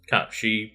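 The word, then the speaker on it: Cait Sith: I know that, like, Kate Sith in Gaelic would be pronounced Cat-She, but like, or something similar to that, but like, Square Enix have doubled and tripled down. In the game, they are called Kate Sith.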